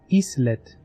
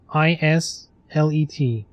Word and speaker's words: islet: Is it like you have island, so it's like islet?